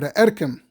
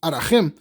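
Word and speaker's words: ערכים: By the way, I should mention that we have the Sefer Erkim. That's how we pronounce it in Chabad, even though in Ivrit it's Arachim, but commonly called Sefer Erkim by Rabbi Yochanan, Chelik Aleph.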